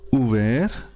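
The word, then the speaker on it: ouvert: सज्जे हथ जो लिखा है खुले हुए नूं बोलेंगे उवेर उवेर उवेरत उवेर उवेरत। बोलने उच्चारण थोड़ा जा फर्क है पुलिंग और स्त्रीलिंग का।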